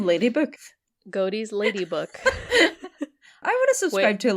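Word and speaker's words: Godey: on Halloween published in I don't know if it's goatees or goddy's lady book I think it's probably goatee how is this spelled g-o-d-e-y yeah it sounds like goatee I feel like Gotti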